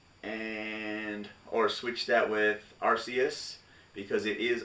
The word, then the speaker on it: Arceus: diamond shiny pearl and or switch that with arceus because it is arusaius on the katakana so the real pronunciation is the softsee uh but yeah if